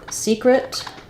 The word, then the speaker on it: secret: sorry um the um the word secret um so for secret um even though we have two e this one says is is stressed and it says a true vowel